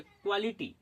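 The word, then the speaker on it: quality: उसी प्रकार से क्यू यू ए एल आई टी वाई इसको पढ़ेंगे क्वालिटी।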